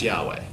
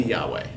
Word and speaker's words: Yahweh: Hwy HWH combo right in Hebrew this is supposed to be pronounced Yahweh in English it is